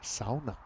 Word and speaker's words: sauna: And by the way, we're saying sauna, but if we're going to say it, the more authentic pronunciation, it's sauna, which I actually like saying it that way.